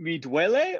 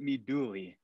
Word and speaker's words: Mi Duole: It Mi Duole or is it Mi Duole? A. Now, the reason why it's okay to say either or is because the Italian proper way to say this is duele.